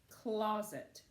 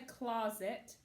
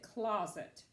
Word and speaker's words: closet: sounds like listen how I say it carefully closet I don't say closet some people do but you pronounce it closet put your clothes in the closet please so